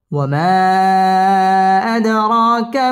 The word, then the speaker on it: وما أدراك: ওয়াও ঠোঁট গোল করে উচ্চারণ করতে হবে। ওয়ামা জবরের বাম পাশে খালি আলিফ, মদের হরফ, মদের হরফের উপর চিকন চিহ্ন, বামে হামজা, মধ্যে মুনফাসিল, 3 আলিফ টেনে পড়তে হবে। ওয়ামা আদ, দাল কলকলার হরফ, ধাক্কা দিয়ে পড়তে হবে।